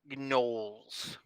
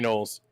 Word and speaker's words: gnoll: you do see 3 gnolls. Kind of just walking up the road towards you. I would like to I say don't that have the milk, Leonardo. G is silent.